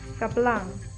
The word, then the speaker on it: blang: Goat, BLANG.